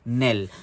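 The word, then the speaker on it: knell: n e LL and the pronunciation for it is Nell so what is Nell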